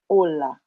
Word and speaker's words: hola: it's kind of similar in spanish the each is there it walks along with the rest of the world but it is silent so hello holla so